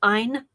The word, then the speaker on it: Ayn: And yes, apparently it is Ayn, even though it's spelled A-Y-N.